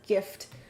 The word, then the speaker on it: GIF: I feel like saying the hard G gets it misunderstood as gift. Yeah, true. So, it'd be a GIF, like Jify Lube.